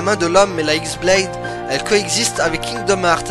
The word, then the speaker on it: X-Blade: Son nom se prononce de la même façon, mais s'écrit X-Blade, celle qu'avait Vanitas du coup.